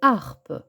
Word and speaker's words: harpe: prononce a exemple une harpe attention la lettre H ne se prononce pas la lettre J suivie